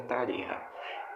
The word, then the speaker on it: Tarija: A Argentina, pelo tempo que levou, provavelmente iria me atacar Tarija ou Tarirra. É o correto da pronúncia sul-americana é Tarirra.